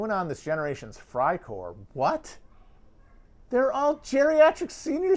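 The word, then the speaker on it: Freicore: r e i core it sounds like fry but that is the correct pronunciation i'm not going to roll my r's or anything cry core it's fry core oh someone's wanting someone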